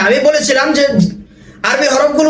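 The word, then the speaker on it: ز: অনেকে জিম এবং জায়ের মধ্যে প্যাচ লাগিয়ে দেয়, জিমকে বলে জিম আর জাকে বলে যা।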